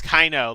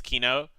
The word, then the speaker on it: kino: And I always pronounce it as Kaino, like in real life. So I always say Kaino, even though it's very obviously not the correct pronunciation, even though like it is Kino. I know that it's Kino.